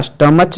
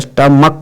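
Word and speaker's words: stomach: जैसे यहाँ पर है इसको STO में CH, तो CH के क नहीं होता, स्टमच नहीं होता बल्कि स्टमक होता है, इसलिए इसका CH का उच्चारण क हो रहा है, इसलिए इसमें क्या जुड़ेगा, S जुड़ेगा।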